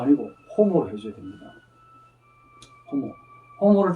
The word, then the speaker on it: homo: 흐로 발음해 줘야 돼. 그래서 오모가 아니고 호모로 해줘야 됩니다.